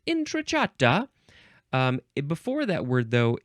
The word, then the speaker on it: entrata: of the Italian word entrata I think that's probably how you would say it inata um before that word